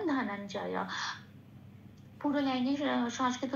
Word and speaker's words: ধনঞ্জয়: তারপরে শব্দে আসি ধনঞ্জয়, ধ যেমন আছে তেমন, নন এই মহাজয়টা, ইয়া জয়টা একটু ভেঙেছি, ইয়া হসন্ত দিয়ে নয়ের সাথে জড়িয়ে উচ্চারিত হচ্ছে নন, এখানে ইয়াটার উচ্চারণটা ন ঘাসা হয়, আর জয়টা যেমন আছে তেমন, তাহলে শব্দটা পেলাম ধনঞ্জয়।